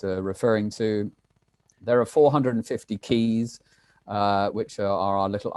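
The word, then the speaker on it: cayes: to there are 450 keys uh which are our little islands now keys is not spelt kuis it's it's spelled c-a-y-e-s but pronounced keys uh americans have a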